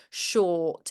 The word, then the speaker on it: short: it's still, it almost went back to shot again. Short. It's Yeah. just about making sure we get that or in there. And I think it's lowering that tongue a little bit. Sure. And allowing the tip of the tongue to kind of remain lifted a little bit to replicate that R sound almost.